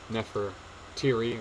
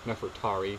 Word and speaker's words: Nefertari: So Nefertiri, or Nefertari, depending on how you say it.